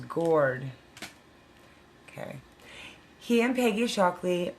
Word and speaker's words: Goard: It wasn't goad, it was gourd.